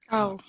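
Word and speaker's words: 買う: If you're not sure, try to say an English word, cow. Okay. So it's like cow versus cow. How do you say the animal? C-O-W in English. Cow. Yeah, that's the cow. This one. And then to buy is cow.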